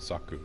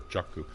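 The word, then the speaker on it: Xaku: farming here is named Saku, or Chaku. We don't really know how the X is supposed to be pronounced etymologically, because there really is no X symbol in Sanskrit.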